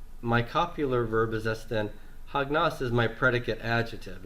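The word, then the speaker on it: ἁγνός: Hagnos. Hagnos. Mm-hmm. Yeah. And by the way, akenos is the subject, and my copular verb is estin. Hagnos is my predicate adjective.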